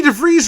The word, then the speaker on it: DeVries: And also a surprise guest who wasn't at the show the night before because she wasn't able to attend was Vicky DeVries Rhymes with Cheese.